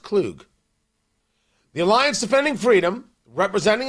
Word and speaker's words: Kug: I think it's pronounced Clug.